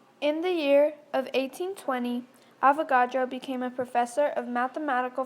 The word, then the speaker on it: Avogadro: came up with the Avogadro's law and other contributions to the identity of an atom farewell chemist of the future we shall meet again and remember Avogadro rhymes with avocado